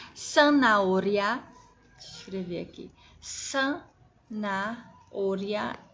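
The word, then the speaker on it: zanahoria: de tranças e sanauria escrever aqui San naolha é cenoura em espanhol e se escreve com z ou seja os itens som de s deixa eu escrever as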